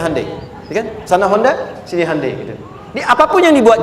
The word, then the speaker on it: Hyundai: bikin Honda sini Handai hyundaikan dibacanya Handai sana Honda apapun yang